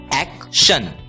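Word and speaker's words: action: होती है एक इसलिए ए सी टी आई ओ एन का उच्चारण होगा एक्शन एक्शन दोस्तों जिस प्रकार टी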